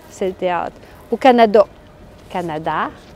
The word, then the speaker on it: Canada: Canada, Canada. Donc, presque tous les mots qui finissent avec le son « a » au Canada, on a tendance à les prononcer comme des « a ».